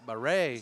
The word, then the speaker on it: Barre: Abdul Baer gets the bucket. Aiden Dolan checks in. Now checking in the game for the Royals. Number 14. Chase Untall. And a pronunciation update. Barre Number 2.